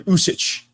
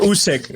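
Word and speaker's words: Usyk: names than I am Alexander usich usich usich or usk either way I think you could pronounce it either way really way better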